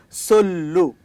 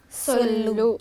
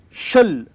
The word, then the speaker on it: sollu: regional term, which is sollu. Repeat after me. Sollu. Sollu. Say once again. Sollu. Sollu. Shul. Shullu. Chul. So there are different interpretations, which means one letter